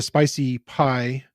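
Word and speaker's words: SpiceyPy: from the nai-nai F itself and then the spicy pie documentation which is spelled SPI c ey and then pi is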